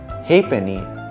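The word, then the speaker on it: halfpenny: f as in happen hey penny is how you pronounce half penny G as in sign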